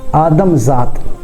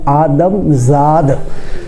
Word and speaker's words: آدم زاد: لکھتے بھی غلط ہیں، آدم ذات۔ آدم ذات لفظ غلط ہے اور صحیح اور درست تلفظ اس کا یہ ہے آدم زاد، زال الف دال زاد، چونکہ یہ فارسی زبان کا لفظ ہے جس کا معنی ہے